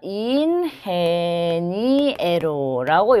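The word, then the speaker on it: ingeniero: 자, 근데 5번 같은 경우는 인헤니에로라고 흐 발음이 나지만 얘는 이렇게 해라는 글자가 들어가죠.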